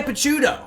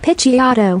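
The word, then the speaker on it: Picciotto: Piciato. According to that translator, it's Piciato. I've never pronounced it Piciato a day in my life.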